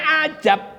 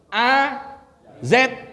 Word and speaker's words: azab: Padahal mestinya azab tuh, azab. Adab itu siksa atau adab ini nih pakai alif nanti tata cara atau sopan santun. Kalau bacanya ajab itu bujang. Tuh bujang. Itu ajab Allah.